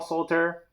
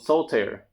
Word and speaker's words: Solitaire: using the promo code Solitaire. That's 2 syllables. Solitaire, not solitaire. Not that card game. It's Solitaire. So again, use the promo